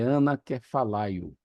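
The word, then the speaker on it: ἀνακεφαλαιόω: E a pronúncia que eu aprendi para isso é anakefalaio.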